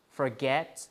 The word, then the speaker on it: forget: So in things like forget, the stress is on the root, which is get, because for is a prefix, right?